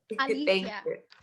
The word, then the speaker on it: Alycia: I kind of respond to a lot of iterations of my name, but it's Alicia. Girl, you should tell people, no, you pronounce it this way. Alicia.